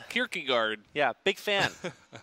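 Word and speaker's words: Kierkegaard: amazing how do you say his name again Kier guard KY guard yeah big fan sounds like a like a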